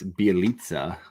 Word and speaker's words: Bjelica: I did, and I just want to clarify, it's Bjelica is how you say his last name.